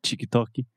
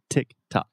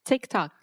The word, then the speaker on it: TikTok: talking about the platform itself just a quick pronunciation about the name of the platform tik-tok so this is not cheeky Toki not anything like that tick tock tick tock okay say it with me three times fast